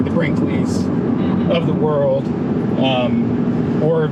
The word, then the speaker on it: Brinkley: It's called Brinkley, exactly how it sounds.